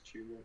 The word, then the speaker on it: Chuba: chubba hubber I don't even know how to pronounce his name chuba is it chuba it's chuba I mean's like goes on my team I'm